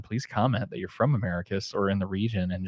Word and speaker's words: Americus: doing that for three years um am I pronouncing that right Americus Georgia Americus Georgia you are pretty isn't that correct is